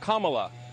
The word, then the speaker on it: Kamala: um hosts on fox her name is pronounced comma like the punctuation mark look kamala okay okay seriously i've